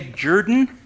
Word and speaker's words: Jordan: he was my great granddaddy now you say jordan that's how he pronounced it sometimes it was spelled j-o-r-d-o-n and